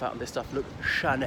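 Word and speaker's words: Chanel: of this stuff look Shanna held don't pronounce it Channel all right it's got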